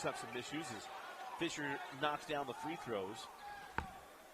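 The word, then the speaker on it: Fischer: different it was m-i-s-c-h-e-r I don't know why that's not Fisker but it's Fisher yeah in most places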